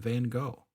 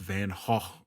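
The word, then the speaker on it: Van Gogh: by D Vinci and Van go and I know it's pronounced van H or whatever but it'll always be van go in my head I'm sorry back to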